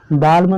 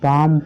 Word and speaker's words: balm: Example है BALM, इसको क्या पढ़ते हैं, बाल्म नहीं पढ़ते हैं, इसको हम बाम पढ़ते हैं।